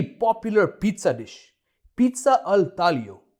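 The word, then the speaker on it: taglio: A very popular pizza dish, pizza अल तालियो। यहां पे जी silent है और हम प्रोनाउंस नहीं करते उसे, सो इट्स अल तालियो, pizza Al तालियो।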